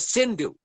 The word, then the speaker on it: Sindhu: Indus River, which is now in Pakistan, which is spelled Hindus, I-N-D-U-S. In Sanskrit, it is called Sindhu.